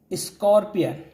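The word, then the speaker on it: scorpion: ठीक, अ माने होता है एक, स्कॉर्पियन, इसका करेक्ट प्रोनाउंसिएशन है स्कॉर्पियन, स्कॉर्पियन माने क्या होता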